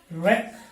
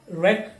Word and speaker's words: wreck: but in this list letter w is absolutely silent wrong wrists wreck wrath right and wrestle